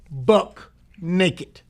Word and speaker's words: buck naked: The correct use of the word, or the pronunciation of the word, is buck naked.